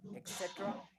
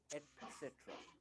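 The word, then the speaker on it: etcetera: एक्सेट्रा। दोस्तों ये गलत प्रोनाउंसिएशन, इसका सही प्रोनाउंसिएशन है एटसेट्रा, एटसेट्रा।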